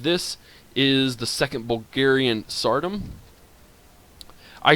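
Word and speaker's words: Tsardom: And so while a lot of people say it is Zardom, I like saying the TS together, so it's Sardom to me.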